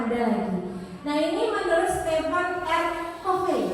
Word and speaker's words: Stephen R. Covey: Nah, ini menurut Stephen R. Covey. Bacanya gitu ya.